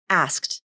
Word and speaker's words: asked: to pronounce this word according to the ipa here's the ipa transcription you'll see four symbols which means there are four sounds asked and if you look